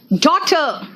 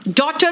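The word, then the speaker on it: daughter: है H silent है कहां कहा साइलेंट है जरा देखो डॉटर डॉटर बोला मैंने एज साइलेंट है डॉटर जी एच यहां प कोई ज्यादा ज्यादा जरूरी नहीं था जो सेकंड वर्ड है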